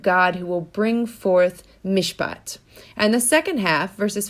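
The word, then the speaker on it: מִשְׁפָּט: It's a Hebrew word, mishpat. Mishpat, if you remember your Hebrew, is spelled mem, shin, pei, tet. Mishpat.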